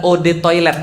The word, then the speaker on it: eau de toilette: banget eau de toilette adalah Ode toilet bacanya eotte saatnya air toilet toilet